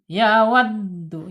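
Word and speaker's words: يَوَدُّ: Ya wad ya waddu ya. penekanan huruf dal jangan sampai ee salah ya pengucapannya ya wad tekan ya ditekan penekanan di dal karena bertasjid yawaddu ahaduhum ya awas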